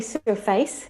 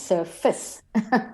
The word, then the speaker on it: surface: Because they say surface, because face is face. Yeah. And so they hear it and they don't register that it becomes fis, de-stressed. So it becomes short and squashed. Yeah. So you would write SURFS, for instance, surface, if you were going to write it how it sounded, for instance.